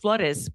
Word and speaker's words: Flores: How how did the flurry's name which is pronounced floodis by people in New Mexico usually.